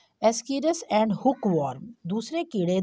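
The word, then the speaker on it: Ascaris: कीड़े का नाम है, ASS, बीच में गाड़ी के स्पेलिंग भी आ रहे हैं बच्चों, CAR कार, IS इज, एज कार इज, लेकिन हमने इसको ऐसे पढ़ना नहीं है, इसको हमने एस्कीरस पढ़ना है।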